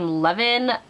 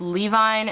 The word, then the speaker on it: Levine: names by Gil Carson I've always pronounced the name Levan but I've also heard it pronounced Levine and that looks right so Gail Carson Levine